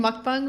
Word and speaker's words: mukbang: it I love watching mukbang videos yeah that's how it's pronounced my favorite the ones